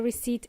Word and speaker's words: receipt: When you pay for something, you get a receipt at the end. Okay? Receipt. There is a silent P in there.